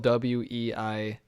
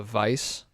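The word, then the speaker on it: Weisse: a berliner it's spelled w-e-i-s-s-e so like looks like weiss but i believe it's a vice with like like sounds like a v but um kind of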